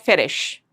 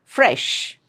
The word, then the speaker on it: fresh: It's not ferish, okay? It's fresh. And don't add any sound at the end like fresher. This is very fresh. No, that sound should not come for any word. It's fresh. Front, front.